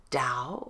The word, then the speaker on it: Tao: happiness so the Dow is spelled t AO pronounced Dow or spelled e o w and let's take